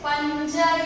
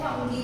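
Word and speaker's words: fungi: आज हम स्टार्ट करने वाले हैं फंजाई के बारे में। इसे फंजाई भी बोलते हैं, फंगी भी बोलते हैं कहीं, okay, but I pronounce as फंजाई।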